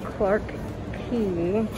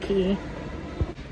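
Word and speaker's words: Clarke Quay: thought by the way I'm probably going to continue to accidentally say it wrong so go ahead and take a shot or a sip of whatever it is you are drinking every time I say Quay instead of key it appears I stumbled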